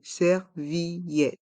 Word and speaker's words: serviette: d'eau une serviette une servillette dans le mot serviette on prend prononce bien ensemble la voyelle i et le son et à la fin du mot servillette servillette une servillette une serviette